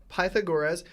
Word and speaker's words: Pythagoras: All right, so we open the chapter with Pythagoras.